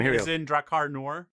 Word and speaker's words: Drakkar Noir: As in Drakkar Noir. Yes, that's exactly how you pronounce it.